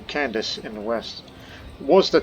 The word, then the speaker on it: Candace: We call a girl's name Candace. That's how it's pronounced.